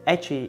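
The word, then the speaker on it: ecchi: have here is the edgy the name comes from the word H in hentai pronounced as Aichi in Japanese the story that has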